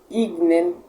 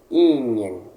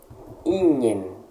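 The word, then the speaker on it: ignem: Por que eu não estou lendo Ignen e estou lendo Ingen? Preste atenção. As letras G e N, quando nós encontramos um G e um N unidos em latim, eles têm o som de NH.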